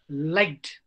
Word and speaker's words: liked: Although ed comes there, liked, ta pronounce is there. Because the word ends with pa, ta, sha, cha. Pa, ta, ka, sha, cha.